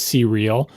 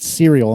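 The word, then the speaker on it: CReal: name, by all accounts, should be pronounced C-Real, because the name of the company is capital C, capital R, lowercase E-A-L. Oh, no, I kept pronouncing it cereal in my head.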